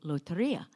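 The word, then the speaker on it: Lotería: want at the bus stop is the game Loteria. And did I pronounce it right?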